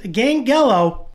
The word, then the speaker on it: Gangelo: to talk about today is gang gallo or as i like to pronounce him gengalo because i don't think there's a wrong way to do it but first let's do